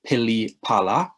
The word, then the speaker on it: pilipala: that starts with the letter p so you pronounce that pilipala and that is the welsh word for any